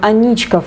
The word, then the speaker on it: Аничков: это был подполковник михаил анечка однако название моста у петербуржцев связывается исключительно с историей трагической любви некой анечки и ударение в названии соответствующие на а они на и прогулка по набережной реки